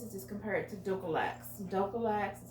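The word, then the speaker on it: Dulcolax: here and this is just compared to ducolex dough collects that's how you pronounce it the name brand but this is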